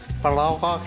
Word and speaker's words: palaugaaq: "Palaugaaq" in Inuktitut, "bannock" in English.